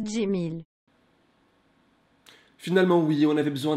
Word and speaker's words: Cemil: Oh purée, ça se prononce Jimil.